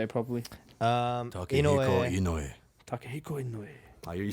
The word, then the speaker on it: Takehiko Inoue: Takehiko Inoue.